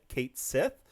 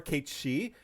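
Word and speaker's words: Cait Sith: A new batch of Awakenings, which would include realizations for the Leading Man and the Kate Sith, or Kate She, however you want to pronounce it.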